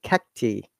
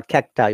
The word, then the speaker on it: cacti: When you're making plural, cactus become cacti or cacti. Both are correct, okay? Cacti or cacti. Both pronunciations are correct.